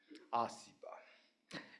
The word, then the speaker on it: ACEBA: Today marks a new beginning as we launch the ASEAN Circular Economy Business Alliance, or ASEBA, because we are doing Indonesia, A is pronounced as A, ASEBA, in short.